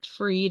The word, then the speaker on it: Fried: find me on Facebook doc freed F IED which everyone is mispronouncing is fried and that's cool because that's the way you spell it uh and also at